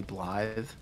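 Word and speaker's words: Blaidd: It's spelled Blade, but it's... But it's... I think it's pronounced in the Welsh way, Blythe. I'm not sure.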